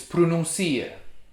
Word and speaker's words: pronuncia: a noun but without the accent under you it's pronuncia he pronounces grandfather is vo but grandmother is